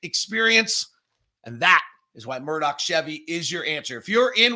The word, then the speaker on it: Murdoch: that you deserve from our friends over at Murdoch Hyundai. Murdoch Chevy. I said it wrong. Murdoch Chevy, located over in Woods Cross and in Logan.